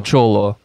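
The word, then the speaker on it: Xolo: dog in general yeah technically it's a cholo that's how it's pronounced yeah but it's um spanish yeah yeah it is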